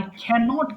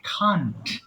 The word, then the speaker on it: can't: তাহলে আই ক্যানট কে আমরা একসাথে বলবো আই খান্ট। প্রশ্ন হতে পারে এটা কি ক্যান্ট হয় না? আচ্ছা, আপনি ক্যান্ট বলতে পারেন, কোনো অসুবিধা নেই।